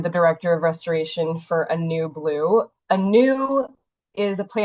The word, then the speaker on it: Anew: I am the director of restoration for Anew Blue. Anew is a play on words, right? We're mostly focused on restoration. So Anew, A-N-U, is pronounced like A-New.